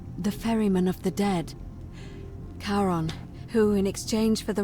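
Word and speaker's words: Charon: It's just as you described it, only your pronunciation is a little off. The name you heard wasn't Karen. It was C H A R O N. The underworld. Karon, the fairerryyman of the dead. Karon, who in exchange for the right coin, helps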